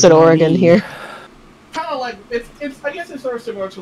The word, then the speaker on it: Oregon: Oregon is Oregon yeah it's supposed to be Oregon we pronounce it Oregon here these are similar to like how people